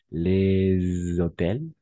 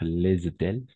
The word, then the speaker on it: les hôtels: Même avec le H muet, parce que le H est muet. D'accord? Les hôtels, d'accord? Les hôtels, les horloges, d'accord?